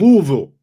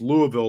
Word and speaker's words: Louisville: Louisville. Depending on how you say it. Louisville. You got to talk like you've got some marbles in your mouth.